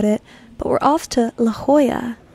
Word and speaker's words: La Jolla: But we're off to La Jolla. Hoya. The J being pronounced as an H.